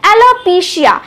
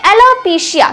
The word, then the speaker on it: एलोपेसिया: हम उसको बोलेंगे एलोपेसिया मतलब इसका उच्चारण कैसे करेंगे देखिए ऐसे तो स्पेलिंग क्या है ए एल ओ पी ई सी आई है तो ऐसे हमें बोलना चाहिए एलोपेसिया नहीं हम बोलेंगे एलोपेसिया क्या बोलेंगे एलोपेसिया तो मेडिकल टर्म में